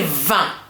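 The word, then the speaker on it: vingt: So when I say va, I have two letters there that are going to be mute. I'm not going to pronounce them.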